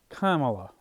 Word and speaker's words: Kamala: say it right and the way I say it which I think is the right way to the correct way is like Kama like a comma like K Kamala I think that's how